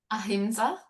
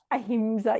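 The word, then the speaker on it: ahimsa: Um, I'm going to be practicing um Hamsa. How do you how do you pronounce it? Aimsa. Aimsa.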